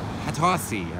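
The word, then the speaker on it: Hatosy: anton yelchin uh sean hattosi i believe is how you pronounce the last name who i met at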